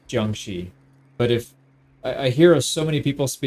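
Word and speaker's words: Jiangxi: Xi or Jang in I believe it's the Beijing accent. All the the shis are pronounced with an R, but outside of Beijing, I don't think they say that. It's it's Jang Xi.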